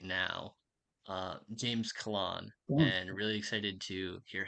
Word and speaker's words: Callan: one of my favorite writers right now, James Callan, and really excited to hear him read. So I'm going to go ahead and pass it over to James. Thank you. That was very kind of you. It's Callan.